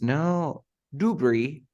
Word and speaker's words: debris: debris it's not dubris no debris I don't pronounce the S because the s in this word is silent huh we have with